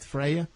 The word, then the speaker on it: Freya: I like the name Freya is am I pronouncing it right Freya yes yes it's is uh it's title um